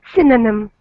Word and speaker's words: synonym: Synonym. Good. Yes, I see. And that upside down E is pronounced like an Oh.